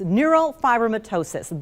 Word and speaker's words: neurofibromatosis: Neurofibromatosis, that is how you say that word.